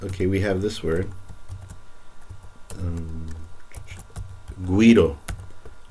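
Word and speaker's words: güiro: we have this word, guido. Guido is an instrument that's used in the Caribbean. Guido. So notice how now this U is pronounced like a W, like gue or gui.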